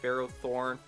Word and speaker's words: Ferrothorn: up as he switches out goes into his phro Thorn I said it right that time yes so